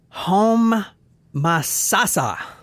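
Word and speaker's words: Homosassa: masasa cool name Florida so h o m o s a SSA and then she puts the pronunciation that was nice you know we have a hard time with that home like home Ma like get in the kitchen ma make me some pancakes and then Sasa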